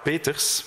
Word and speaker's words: Peeters: in the art of Clara Peters because that is how we pronounce it in Flanders de CL Peters you